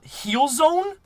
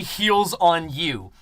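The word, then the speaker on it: HealsOnU: always pronounce my name how do they pronounce it uh he'll heal zone heals own u heals own you and it's supposed to be heals on you right like because i heal on people that's super funny oh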